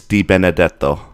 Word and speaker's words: De Benedetto: time pronouncing it but it's very easy it's just like it looks it's de benedetto D Benedito perfect oh I like